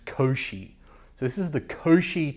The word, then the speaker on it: Cauchy: Guaranteed you're thinking couchy. It's actually pronounced Koshi. So, this is the Koshi transmission equation cuz he's some French guy.